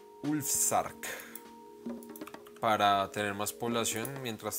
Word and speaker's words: Ulfsark: Lo primero que hice fue crear una casa con mi Ulfheart, creo que es que se pronuncia. Ulfsark.